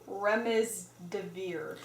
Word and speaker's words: Remdesivir: Can you pronounce that? What is that? I can't even say it. Remdesivir. Remdesivir, okay.